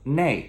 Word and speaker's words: 内: 那 usually becomes 内, okay? N-E-I, with a downward descending tone.